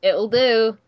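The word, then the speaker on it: Ittle Dew: spelled spelled weird I guess it's supposed to be like do yeah like it'll do you know it's supposed to be like play on words or something but it's so good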